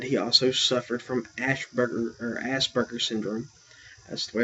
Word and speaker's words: Asperger: That being said, he also suffered from Asperger syndrome. That's the way it's pronounced, Asperger, but it's spelled Asperger, which is